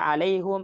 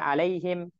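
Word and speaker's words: عليهم: lahjah ada yang baca alaihum ada yang baca alaihim itu hanya cara baca aja Umu Syifa ee terus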